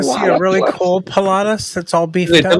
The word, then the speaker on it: Pilatus: Pilatus. I said Palladius. I gave it an extra syllable.